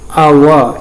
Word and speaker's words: hour: we are pronouncing like hour. Here H is silent, it is pronouncing as if like it starts with the vowel.